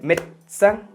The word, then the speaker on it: médecin: O por ejemplo, médecin, médico. Médecin se escribe, médecin. Como verán, la primera E es una E aguda. Ya vamos para allá, tiene un acento agudo. Pero la E intermedia, médecin, desaparece.